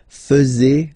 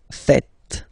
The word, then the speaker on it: faites: And it's quite funny because many French people tend to make the mistake and tend to say vous faisiez, okay? But then no. It's vous faites. Vous faites. Okay, so remember, final S here is not pronounced, and then this E is not pronounced either.